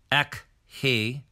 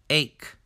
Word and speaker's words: ache: We don't say ek he, we say ache.